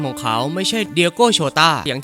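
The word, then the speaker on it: Jota: เป็น คำ ว่า โจเซ ใน ภาษา โปรตุเกส ตัว เจ ออก เสียง ว่า โชต้า และ นั่น คือ จุด เริ่ม ต้น ของ ชื่อ ที่ โลก เรียก เขา ว่า diโก โชต้า แม้ ว่า มัน จะ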